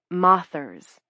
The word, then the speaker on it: mothers: They call moth watchers moths. Spelled like mothers, but not said like that.